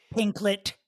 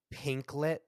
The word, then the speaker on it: Pinkett: Hoda cot be Jada pinklet Smith uh you're saying pinklet I'm sorry I had no idea that's how I pronounce it pink Smith pinklet Smith yes like piglet almost but pink is that